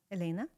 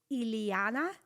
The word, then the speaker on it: Elena: So, but people, when I say Elena, you know, Americans, they're like really trying to please me and say it correctly. So they're, and because they just can't pronounce soft L, they have to, you know, they work so hard on it that they say Iliana. And I'm like, ooh, that's even worse. So please, Elena is good, you know, fine.